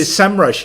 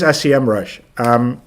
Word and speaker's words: Semrush: We always say SEMrush here, but that's very Dutch, I guess. But it is SEMrush.